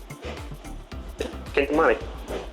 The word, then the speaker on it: Kintamani: another month of me not knowing how to pronounce our coffees. It's fine. Kamani. Kintamani.